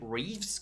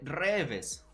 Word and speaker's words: Reeves: conocía, que yo conozco, en lugar de decir Reeves, que es como se pronuncia, Ken Reeves, decía literalmente Reves, Reves, ¿no? Keanu Reeves.